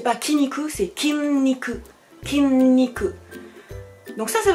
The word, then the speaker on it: 筋肉: petit nicu c'est pas qui ni coup c'est qimni que kimi que donc ça ça veut dire muscles